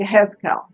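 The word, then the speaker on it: יחזקאל: I forgot how to say it in Hebrew, and it's Yehezkel.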